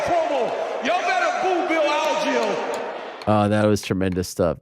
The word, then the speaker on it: Algeo: By the way, DC said it like Algeo, and I say Algeo. Which is the correct way to say it? It's Algeo, or if you're my UFC driver, he had a Lego.